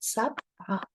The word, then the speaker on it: سبعة: Okay, and this is how we pronounce it, sab'a. Remember, before we said in chats, we can use the three to mean a. So sab'a.